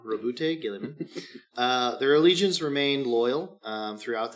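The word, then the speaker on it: Roboute Guilliman: I looked up the pronunciation of that. That's Robot what they Girly say. Man. Robot Girly Man. Robute Gilliman.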